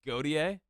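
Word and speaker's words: Gauthier: could you imagine if the Cutter Gouthier, whatever his name is, Godier. if that? Oh wow, that's pretty good Yeah. pronunciation out of you. It's Godier. Is it Gautier.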